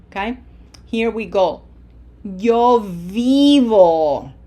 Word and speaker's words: vivo: Yo vivo. Remember, you have to smile for that I. It has to be long. This is not vivo. Okay? Yo vivo.